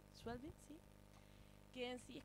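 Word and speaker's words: Schweblin: ¿Cómo se pronuncia? Schwelbin, sí.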